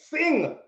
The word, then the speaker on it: Singh: Singh? Like how you sing song? Yes. Right.